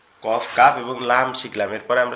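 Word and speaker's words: ك: কাফটা কোথা থেকে উচ্চারণ হবে? কাফটা হচ্ছে আমরা কফ পড়ছিলাম জিহ্বার গোড়া তার উপরে তালুর সঙ্গে লাগায়, আর কাফটা হচ্ছে জিহ্বার গোড়া থেকে একটু আগে বাড়ায়া, জিহ্বার গোড়া থেকে একটু আগে বাড়ায়া তার বরাবর তালুর সঙ্গে লাগায়া, তার বরাবর তালুর সঙ্গে লাগায়া calf, calf, calf, calf, calf, এরকম হবে।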